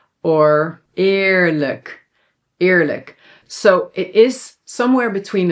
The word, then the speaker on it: eerlijk: And then lastly, this sound, dubbele a is usually pronounced long like a but sometimes when it's in front of an l or r yes, it sounds a little bit more like i.